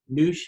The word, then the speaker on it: Noosh: We like to pronounce it Noosh. It's a double O, but a lot of people pronounce it both ways.